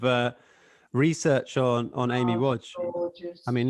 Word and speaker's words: Wadge: does yeah w-a-d-g-e to confuse everyone but it's pronounced watch don't ask me why how how big how